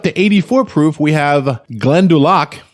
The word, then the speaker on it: Glendalough: 84 proof we have glen du lac glenn duloc van der luk all right that's pretty good yeah glenda lock i'm so used to not saying it right the first time i